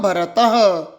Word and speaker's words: भरतः: मम नाम बोलिए मम नाम भरतः जो आगे दो बिंदु दिखाई दे रहे हैं इसे विसर्ग कहते हैं। विसर्ग का उच्चारण ह का उच्चारण करना है।